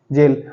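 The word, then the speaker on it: gaol: होता है कैद खाना जेल इसकी स्पेलिंग अलग है जे ए आई एल भी होता है जी ए ओ एल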